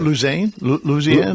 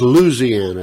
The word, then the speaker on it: Louisiana: Louisiana. Louisiana. If you live out there, Yeah. it's Louisiana.